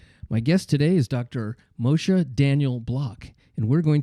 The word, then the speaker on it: Moshe: diseases so let's get started this is Dr mosha Daniel it's great to see you glad you're on the show I'm going to say it again Moshe beautiful like top top marks for pronouncing my weird name thank you well I